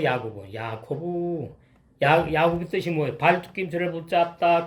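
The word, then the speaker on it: יַעֲקֹב: 원어하고 뜻이 발음이 야코브요 야코브.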